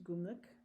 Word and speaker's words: Gumlich: is an incredible book, and Judith Gumlich, that is how you pronounce it, is a lovely German fiber artist and beekeeper.